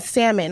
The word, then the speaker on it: salmon: submission comes from me I don't trust people who pronounce the L and salmon like all that sound